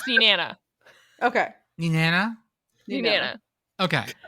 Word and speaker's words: Nenana: Hitting the second syllable. Okay. I stand by this is where the minions come from. Na-na-na. Nana, Na-na-na. nana. Picker, I'm gonna say you're correct. You're the closest. It's Nenana.